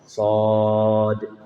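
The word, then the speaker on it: ص: Shad dibacanya sampai 6 ketukan.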